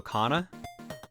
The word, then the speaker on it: Kana: Kana, pronounced like my old name. Oh, so Kana?